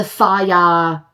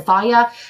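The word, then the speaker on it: Fage: Annie loves the Faya brand yogurt, like the F-A-G-E. I think that's how you say it, the Faya yogurt.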